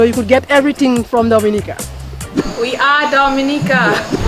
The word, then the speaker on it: Dominica: back okay boom we call it dominica yes the nature i love the caribbean it's rum punch time oh we call it dominican it is spelled d-o-m-i-n-i-c-a it is not dominican republic it